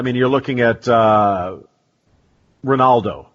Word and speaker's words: Ronaldo: you're looking at uh Ronaldo not even just Cristiano but uh say o phenomeno and uh in Brazil and in Portuguese the r is pronounced almost like an H when it's at the start and they also have